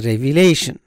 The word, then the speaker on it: revelation: third one is a revelation revelation a revelation so the stress is on the first syllable ley revelation and the fourth one